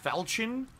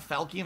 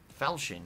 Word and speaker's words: falchion: really let's check out these side areas it's pronounced falchion it's not falcon it's falchion oh yeah falchion that's how you say it okay wow i